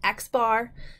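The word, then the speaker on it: x̄: simple as xar so if we see the X with the bar on top we just call call it xar it is a statistic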